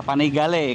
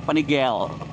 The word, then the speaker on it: Panigale: itu adalah Ya udah panigale karena penyebutan panigale itu ternyata dalam bahasa Itali guys kalau dalam bahasa Itali tulisan panigale itu ya dibacanya panigale gitu Tapi kalau dalam bahasa Inggris itu disebutnya panigel panigel panigel asak Maaf itunya